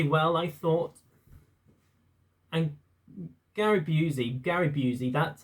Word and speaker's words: Busey: And Gary Busey, that's how you pronounce his name.